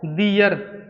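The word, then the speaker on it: their: दियर। THERE से पढ़ते हैं देयर, इसे देयर पढ़ेंगे, लेकिन इसे दियर पढ़ेंगे।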